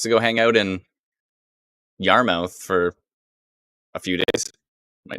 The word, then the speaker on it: Yarmouth: timing good timing oh yarmouth ah yes sue says yarmouth not mouth that's true yarmouth is it spelt mouth i have a feeling it actually is spelt mouth but i guess it's pronounced muff how come nothing is